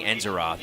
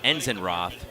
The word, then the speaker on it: Enzenroth: I believe I've been saying Enzeroth, but Enzenroth should be the correct pronunciation.